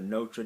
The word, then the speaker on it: notre: need this pronunciation, so Americans say nôtre, Notre Dame, so I don't need the o sound, I need the o, quick, Notre Dame, okay, that's how we'd say our.